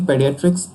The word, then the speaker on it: pediatrics: And its pronunciation is stress on a syllable, and here's a usage. The American Academy of Pediatrics advocates for infants to be put to sleep in a bare crib to prevent SIDs.